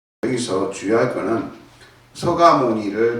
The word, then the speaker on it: 석가모니: 이름을 바꾸는 게 아니라 발음만 그렇게 하면 서가모니, 우리는 정근할 때도 서가모니불 서가모니불 이렇게 해야 돼.